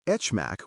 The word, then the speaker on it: HMAC: Say RSA for RSA, AES, and HMAC with a soft H for HMAC.